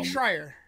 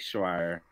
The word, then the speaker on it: Schreier: Oh, Jake Schreier. Yeah, Jake Schreier.